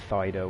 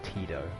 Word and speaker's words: Tito: It's not Fido or Fido, it's Tito.